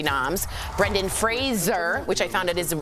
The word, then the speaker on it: Fraser: Brendan Fraser, which I found out is his name, you pronounce it like Razor, got a nod for